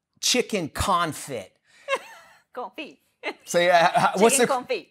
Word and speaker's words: confit: So what's confit. It's pronounced confit, which is basically it's cooked in duck fat, right?